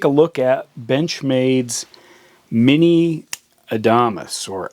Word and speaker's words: Adamas: look at Benchmade's Mini Adamas, or Adamas. I'm not sure how you say it. It's like Adam with an S at the end. Now this is a heavy-duty small folder, and it's created a little controversy.